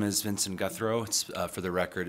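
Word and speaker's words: Guthreau: Health and Human Services my name is Vincent guthro for the record it's spelled v-i-n-s-o-n last name guthro g-u-t-h-r-e-a-u and I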